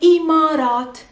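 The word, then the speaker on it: الإمارات: it or simply emirates now emirates in arabic we say imarat the imarat the adjective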